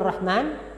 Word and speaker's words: Rahman: yaitu QNet nah Rahman Ya Rahman yang kita bacanya Rachman Itu dari sisi timbangan